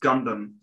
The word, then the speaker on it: Gundam: and that's where mobile suit gundam uh it's pronounced gundam thank you super so this is probably for